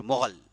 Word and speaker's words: مغل: تو یہ ترک کی 2 اولاد تھی, ایک تھے تتار اور دوسرے تھے منگول یا پھر مغول یا پھر مغل, ایک ہی ہیں, منگول کہیے، اب مغول کہیے،